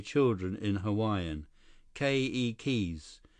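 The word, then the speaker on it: keiki: say children in Hawaiian ke keys with the accent on the first syllable okay Li ke ke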